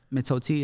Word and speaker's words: mitote: it wrong, but you spelled it M-I-T-O-T-E, mitote? Mitote. Oh, wow. Yeah. Okay. Mitote. My Spanish needs some work. Mitote. Clearly. Mitote. Honestly, In that I don't even know song. if I said it right, but mitote, mitoti, however you want to say it.